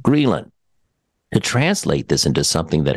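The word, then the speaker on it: ghrelin: secrete more of a hormone called greylin and that's spelled g-h-r-e-l-i-n so this to secrete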